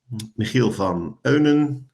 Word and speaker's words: Michiel van Eunen: So first of all, me, Michiel van Eunen, if you pronounce it in proper Dutch, I'm an experienced designer and working with game-based learning and gamification for quite some time now.